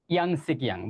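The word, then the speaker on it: Yangtze: নীল,অজন, ভলগা, ইয়াং সিকিয়াং। ভলগা স্পেলিংটা ভুল হয়েছে। এটা হচ্ছে ভলগা। আর এটার উচ্চারণটা হচ্ছে ইয়াং সিকিয়াং।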